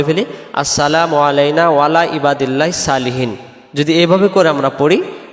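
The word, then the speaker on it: صالحين: আলাইনা ওয়ালা ওয়ালা মানে উপরে ইবাদিল্লাহিস আল্লাহর বান্দার সালেহীন নেককার বা সৎ সলিহীন শব্দের অর্থ হলো নেককার বা সৎ তাহলে এটাকে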